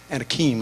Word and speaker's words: Anakim: Anakim, I think is the proper way to pronounce it.